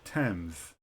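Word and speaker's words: Thames: pronounced as t such as Thomas the river temps in some compound words th is pronounced separately as T and then H such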